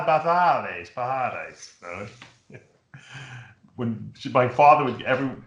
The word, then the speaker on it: Pajares: Jasmine Gonzalez second, and Cristobalina Pajares from Spain third. My father, if I said, Dad, how do you pronounce this? He would give me this correct Spanish enunciation. Pajares.